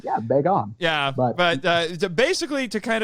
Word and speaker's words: Bagan: That's how I say it. I've also heard it pronounced Bagan. Bagan. Or yeah, there you go. But I say Bagan. That's what it looks like to me. That's what it looks like to this dirty, dirty American right now. That he's Bagan. Well, rhymes with Fagin.